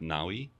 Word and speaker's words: Navi: It's pronounced Nawi.